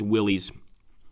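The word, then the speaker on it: Willys: I'll take a look here and see if any of you guys have cracked the pronunciation there. Willies. Ah, it's a Jeep. Okay, okay. So it is Willies.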